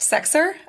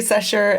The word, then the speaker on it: Sechser: your last name yes it is actually pronounced sexer um it's a German Origins a lot of people do say session and um yeah so